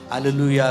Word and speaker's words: Hallelujah: Hallelujah, when you sang hallelujah, the stress is on Lu, but it has to be on Yah. Because Yah is the God, Yahweh. So the stress has to be on God, but you are stressing longer time, but it's not